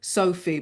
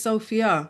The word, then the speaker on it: Sophia: pronunciation of names because when people hear my name they say Sophie but my name is Sophia yeah it's got a a at the end not an e you know so Kia